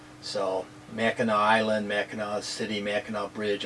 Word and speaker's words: Mackinac: um mackinac is spelled m-a-c-k-i-n-a-c so you think it was mackinac but it's pronounced mackinaw so mackinaw island mackinac city mackinaw